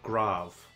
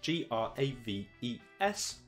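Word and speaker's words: Graves: as we know it is called grav it's spelt spelled g-r-a-v-e-s grav um mainly known because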